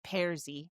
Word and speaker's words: Pearse: Now, Pearse is spelled how the Canadians spell it, Pearse, like Pearsy.